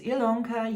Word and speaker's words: Ilonka: My name is Ilonka. Yes, it's spelled with an I, but pronounced with an E, and you have reached